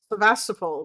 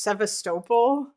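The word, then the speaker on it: Sevastopol: um because that most of the black because the black sea fleet was mostly stationed in um Sevastapl which by the way is apparently actually pronounced seistole um but yeah like they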